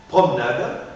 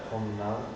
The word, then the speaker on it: promenade: d'une seule consonne d'accord dans ce cas je n'articule pas par exemple ademain ademain ad promenade promenade cafetière cafetière la aide demain la aide promenade la aide cafe fetière je ne l'articule pas d'accord parce que va